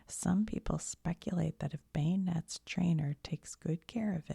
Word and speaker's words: Banette: How to say it? Bayonet. Bayonet. The emphasis is on net. Bayonet.